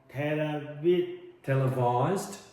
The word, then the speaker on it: televised: capitals Which are tele televised televised live televised televised televised televised televised televised vis. Yeah. Put put your tongue put your teeth put your front teeth over your over your bottom lip.